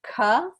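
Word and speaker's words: क: So the gutturals are pronounced at the back of the throat. So if you try to pronounce the letter ka, feel where that is in the throat.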